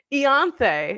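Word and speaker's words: Ianthe: whatever her name is Eon is how you pronounce it her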